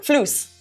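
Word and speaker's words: فلوس: Flus. Flus. Okay, flus. Can you spell that for me, please? Floos. Floos, like floss, but spelled flus.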